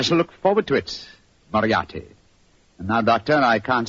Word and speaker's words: Moriarty: People will either misspell it or mispronounce it. I'm afraid I'll have to begin calling it the way it looks. M-O-R-I-A-R-T-Y. Moriarty.